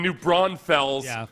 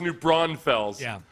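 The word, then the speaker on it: New Braunfels: you're not from Texas that's not how it's pronounced no oh I'm sorry I pronounced it the way the people from the actual place pronounce it Amy Texas Amy Amy doesn't get jerky about it but she pronounces it new bronze full does it drive you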